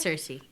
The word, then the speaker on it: Circe: I don't know how to pronounce Yeah, it's Circe.